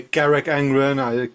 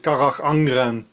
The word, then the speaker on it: Carach Angren: French pronunciation is cool. Some people say Carrick Angran. Car Angran.